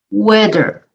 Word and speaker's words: weather: for saying another word with weather though if you skip that th in the middle i'm going to type